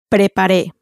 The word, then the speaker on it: preparé: So the prepar with the cafe E on the end. Preparé.